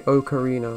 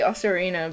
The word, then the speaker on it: Ocarina: Did you ever say Ocarina of Time? Because I feel like a lot of people pronounce it like that.